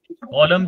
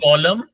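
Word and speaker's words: column: है रो एंड कॉलम कॉलम के spelling है सी ओ एल यू एम और लास्ट में एन जो है वह साइलेंट है सो अभी यह जो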